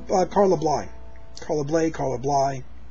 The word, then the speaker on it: Bly: blind carla blake caller bly i heard somebody pronounce it blah once paul bly carla bly and i've pronounced it that way ever since but i always said blade before that um it's a trumpet